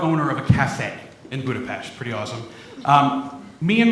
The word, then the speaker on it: Budapest: used to live in Budapest uh you have to say it like that or else if you say Budapest they'll get very upset with you I lived in